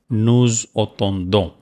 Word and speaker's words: nous attendons: So it is very important to pronounce here Z, because it starts with vowel and last is S. That is called liaison.